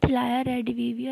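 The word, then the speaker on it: Thalia Rediviva: वो है थिलाया रेडिविविया, इसे थिलाया पढ़ते हैं, तो थिलाया ही इसका राइट प्रोनाउंसिएशन है। बहुत सारे लोग इसे गलत पढ़ते हैं, गलत प्रोनाउंस करते हैं, बट इसका सही प्रोनाउंसिएशन थिलाया रेडिविविया ही है।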